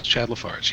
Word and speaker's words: Lafarge: How do you pronounce it? Lafarge? It is Chad Lafarge, yes.